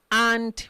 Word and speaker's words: et: going to pronounce 20 and 1 20 and 1. now what is our 20 then and in french is a it's not 8 you don't pronounce the t remember i said in